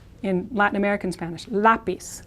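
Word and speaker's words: lápiz: now the word in Spanish for pencil is lapis again stress here there's a written accent mark and Z is is like an S sound in Latin American Spanish lapis lapis my pencil me lapis pencils now there's a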